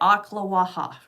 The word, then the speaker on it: Ocklawaha: And yes, that is how you say it, Ocklawaha.